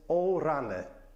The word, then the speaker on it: o rany: Number 8 is one that I hear in my own family very often, and I hear it everywhere in Poland, and it's O rany.